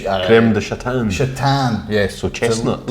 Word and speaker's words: Crème de Châtaigne: Crème de Châtaigne.